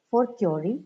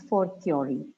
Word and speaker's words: a fortiori: Fortiori, its pronunciation is fortiori.